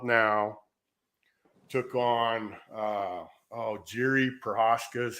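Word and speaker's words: Jiří Procházka: holds the belt now took on uh oh Jerry perosa is how you say his name and uh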